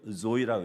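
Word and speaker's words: ζωή: 이이라 는 단어가 있어요 그리스 말레 현대 조이라고 이렇게 발음하는데 일반 신학교에서에 그럽니다 여자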